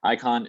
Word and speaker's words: Icon: Now this is pronounced Icon, and I point this out for a good reason. So Icon does basically authentication on the blockchain, but the reason I point out that it's pronounced like Icon is because there's also a coin by the rapper Akon.